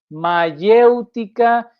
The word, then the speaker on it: mayéutica: significa la palabra mayeutica mayéutica con y Y por supuesto acento en la e mayéutica Qué dice el